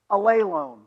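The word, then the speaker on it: ἀλλήλων: word right here and the way it's pronounced in English is this a lay loan say that out loud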